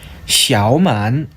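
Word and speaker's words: 小满: 샤오만, 쇼망이라고 읽습니다.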